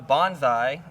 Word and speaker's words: Bonsai: the next disc was is the bonsai the bonsai is how you say the bigger brother to